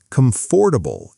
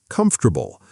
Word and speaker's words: comfortable: Let's talk about one more common one, stress placement on the wrong syllable, like saying comfortable instead of comfortable, which can genuinely make a familiar word sound unrecognizable to a native listener.